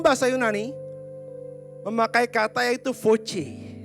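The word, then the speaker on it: φῶς: Dan terang dalam bahasa Yunani memakai kata yaitu voce. Walaupun tulisannya PHOS, tapi bacanya adalah voce.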